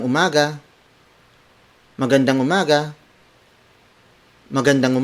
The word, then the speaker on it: umaga: the Filipino phrase for good morning it's magandang Umaga maganda mo Mogga maganda mo mada word for